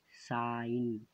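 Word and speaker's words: sign: तौजी साइलेंट होता है जैसे साइन इन यहां पर पहले नहीं जा रहा कि साईं जो दूसरा है डिजाइन यहां येन से पहले जी है तो जी को नहीं पढ़ा जा रहा है तू है क्योंकि यहां पर जी साइलेंट है इस वीडियो में इतना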